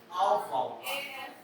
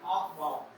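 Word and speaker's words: Aufbau: तो बेटा वही आवाज जो है ना, स्पेलिंग देखना चाहेंगे आप लोग? ऑफ वाव, A U F B A U, ऑफ वाव।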